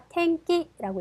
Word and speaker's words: 天気: 자, 아, 天気라고 읽을 거고요.